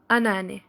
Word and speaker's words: anneanne: Ça s'écrit anne, donc deux fois anne qui est mère-mère, mais on le dit anneanne.